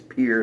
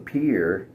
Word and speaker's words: Pierre: And so if you're in Pierre, South Dakota, the only one-syllable capital city, by the way, in the United States, Pierre, South Dakota, if you can't find it in Pierre, you should not yell